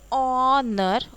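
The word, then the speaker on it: honour: ऑनर, ऑनर, तो H silent है.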